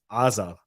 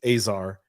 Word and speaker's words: Azar: So in Hebrew, it's Azar. But in English, it's Azar, and same thing.